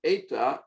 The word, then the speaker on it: eta: So it looks closest to the English in, but forget in, it's not an in, it's an eta, and it is pronounced like a, as close as you can.